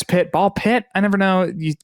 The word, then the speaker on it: BALL x PIT: But, um, so the games nominated for best independent game are Absolut Ball X Pit, Ball Pit. I never know you pronounce the X. You don't pronounce the X.